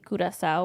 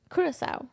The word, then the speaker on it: Curaçao: So CW is actually Curacao, where I kind of paused.